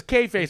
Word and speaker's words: kayfabe: It's spelled weird, but it's pronounced KAYFABE.